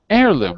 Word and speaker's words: heirloom: challeng one uh heirloom heirloom right heirloom okay do you hear an H uh nope is the first syllable